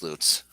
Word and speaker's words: Lutz: on john mayberry road it's a town called l-u-t-z pronounce that for me oh uh lutz yeah but it should be watts it should be luts yes see that's that's what i'm talking about but it's not it's loots there is a there